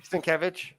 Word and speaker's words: Sienkiewicz: How do you pronounce his name? Sienkiewicz.